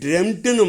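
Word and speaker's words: dreamt: அப்போ உச்சரிப்பு ட்ரெம்ட்டுன்னு மாறும். ட்ரீம், ட்ரெம்ட்டு சொல்லி பழகணும் ஒரு 4 தடவை.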